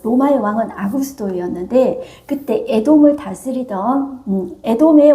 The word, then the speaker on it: 아구스도: 다 호적하라 하였으니네 가이사 아구스도 로마의 첫 황제 옥타비아누스 이야기합니다 옥타비아누스 한문으로 이야기하니까 아구스도 이렇게 이제 발음을 하는 것입니다가 이사라는 말은 로마의